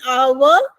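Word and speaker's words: hour: हैस ही टूक एन आवर to reach here कि उसको यहां आने में एक घंटा लगा एन आवर ए आवर नहीं बोलेंगे लेंगे एच क्योंकि साइलेंट है इस शब्द में तो हम बोल के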